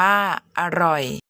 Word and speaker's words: อร่อย: ก็ อ่าน ว่า ตลก อร่อย อ่าน ว่า อร่อย ต่อ ไป ไป ดู